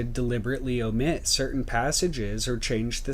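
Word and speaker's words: ॐ: into its constituent elements om is the transcription which is both correct and which corresponds to the actual pronunciation as it exists in india as well as in tibet and in mongolia this detail alone allows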